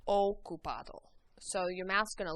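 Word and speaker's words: ocupado: o is an occupied the O in Spanish always makes an o sound okup so your mouth's going to look like a very o shape o repeat on okup okup very good now we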